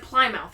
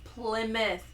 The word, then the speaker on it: Plymouth: said Plymouth you said pouth again pouth again Plymouth it's Plymouth plim PL plim like flim plim you got a lot of flim in your voice PL pth Plymouth there you go I said